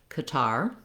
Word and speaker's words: Qatar: So old way for American English, Qatar. New way, looking at something with more of first syllable stress like cutter or gutter.